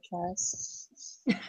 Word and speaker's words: Charis: Actually, there are Charis. 4 legit pronunciations. I go by Charis.